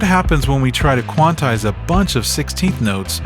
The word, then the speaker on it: quantize: Also, it's pronounced quantize not quantisize.